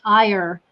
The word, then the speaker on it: Iyer: I have got Pat Iyer with us today, or if you're American, it's Iyer, is how we pronounce that, I-Y-E-R.